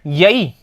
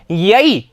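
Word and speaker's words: यैः: सप्तमी ठीक है तो यहां पर ध्यान रखना उच्चारण यई ठीक है ना क्या बोलेंगे यई यई ठीक है और यहां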